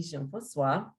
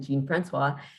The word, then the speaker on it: Jean-Francois: um so thank you my name is Jean Francois but many people pronounce it Gene Francois and um I live